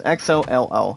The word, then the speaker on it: Xolo: His first name is pronounced, guys, Xolo.